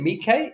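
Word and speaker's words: Miike: Quentin Tarantino and Takeshi is you pronounce it Mike?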